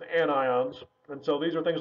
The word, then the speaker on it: anions: negative ions which are called anions again not anyons it's anions and so these are